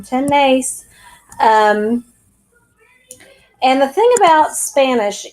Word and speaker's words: tenemos: tiene tenemos tonight's tienen accent on the e in ten mace and the thing about